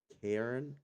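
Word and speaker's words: Cairn: I I'm gonna butcher the hell out of this name. Karen.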